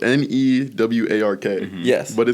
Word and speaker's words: Newark: Wait, so you It's pronounced Nerk. Is that a New Jersey pronunciation of Yes, that is a No, that is Okay, so it's spelled N E W A R K.